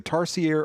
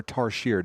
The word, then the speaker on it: Tarsier: It's either Tarsier or Tarsier, depending on where you're from.